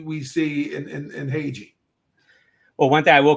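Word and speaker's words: Hage: back end here we have Michael it's it's Hai right that's how it's pronounced H ha Michael ha out of the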